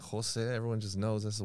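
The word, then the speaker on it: José: home it's like it's not a thing like jose everyone just knows that's the way it's pronounced because a j in spanish is actually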